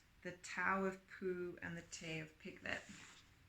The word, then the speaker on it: Pooh: Pooh, by the way, is pronounced sort of like poo, but without so much ooh. Like the sound you make when blowing a fly off of your arm on a hot summer day.